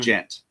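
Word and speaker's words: djent: It's pronounced gent and uh but it's basically like it it's complete like math core and like total offbeats and timings.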